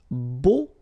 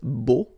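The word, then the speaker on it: beaux: Okay, so we'll see now the plural version, and it's beau. Okay, so you put this X at the end, but then you don't pronounce it, so it's beau.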